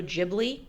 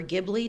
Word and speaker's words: Ghibli: So, this is a Studio Ghibli or Ghibli, depending on how you want to pronounce it, um production.